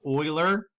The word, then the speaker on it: Euler: what we call an Euler circuit I know it starts with an e but it's actually pronounced or so we're gonna talk